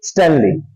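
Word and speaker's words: sternly: है जोर से एकम स्टनली एस टी ई आर एन एल वा आर बेटा साइलेंट होगा आर के साथ प्रोड्यूस नहीं करेंगे स्टनली स्टनली महाराजा ने कमांड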